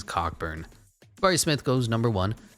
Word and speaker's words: Cockburn: love and marcus bagley i've heard people say that they uh pronounce the name kofi coburn i think people do that just because they feel so ashamed of trying to read it as cockburn barry smith goes number